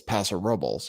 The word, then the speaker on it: Paso Robles: near me for example there's a town near me called Paso Robles which is how I think I would be pronounced in Spanish but I think people say Paso Robles and so the correct way to say it is Paso Robles